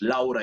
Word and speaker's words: Laura: How do you say, you spell it the same as in Spanish, but how do you pronounce it in English? Laura in English.